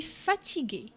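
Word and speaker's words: fatiguée: je suis fatigué. je suis fatigué. je suis fatigué. أنا متعب أو أنا متعبة. زيادة الأو في آخر كلمة fatigué حينما يكون المتكلم مؤنث، لكنها في النطق لا تظهر، تظهر كتابة فقط.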